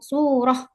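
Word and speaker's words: سورة: Ini ada ini cara baca contohnya suratun ini misalnya. Nah, ketika kita ingin berhenti di suratun maka kita baca surah. Surah ini menjadi sukun ya, surah kayak gitu.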